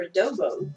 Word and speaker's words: adobo: Is it a bobo or a dobo? A bobo. A bobo. Okay, I was saying it right. So it's like adobo is a seasoning that I use in cooking sometimes.